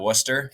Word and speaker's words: Worcester: I come from a small town in Massachusetts, right outside of Worcester. For those of you who are familiar with Worcester, or as the locals would pronounce it, Worcester, with the Boston accent.